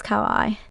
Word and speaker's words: Kauai: In Hawaiian, each vowel is pronounced, none are silent. However, native speakers tend to blend them together. For example, a plus U would make an AU sound. If you say that fast, it sounds like oath.